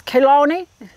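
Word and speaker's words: Chelone: So it's Kelone, C-H-E-L-O-N-E, which doesn't sound like it's pronounced, but it is turtle head, and this one is Hot Lips.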